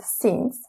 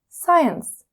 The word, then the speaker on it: since: since just one note don't mispronounce the word since as science since means as the